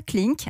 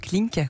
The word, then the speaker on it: hucLink: avez 39 ans et vous avez créé à klink alors ça s'écrit h ucl i n 4 a fait